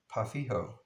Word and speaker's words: Pau Ferro: I think his name is Marcos, and he told me it was pronounced Pafijo, I believe. We would call it Pau Ferro, but he said it's pronounced Pafijo, I believe.